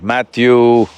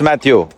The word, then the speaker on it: Matthew: in this, Right now, do I know you are Matthew, I wouldn't dare try the second name. McConaughey. McConaughey. Rhymes with what would Madonna say?